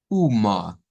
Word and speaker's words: uma: Y aquí se nos agrega otra, miren, en donde la A al final está sonando como ah, uma, uma, vendría siendo el sonido de esta.